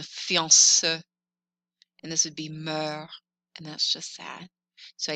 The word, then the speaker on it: mère: Accent grave sounds like eh, like the word jet. This is the word for mom, mommy, mother. Mère, mère.